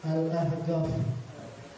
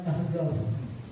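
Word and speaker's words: Al-Ahqaf: alahqaf atau kita sebut al-ahgaf Kenapa Soalnya di sana itu orang habrmud bilang qf itu adalah G jadi bila tulisannya alahqaf pakai Q cuma bacanya ahgaf jadi kayak qa itu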